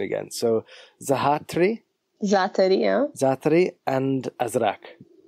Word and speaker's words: Azraq: They, now, correct my pronunciation again. So Zaatari and Azraq. Azraq, yes.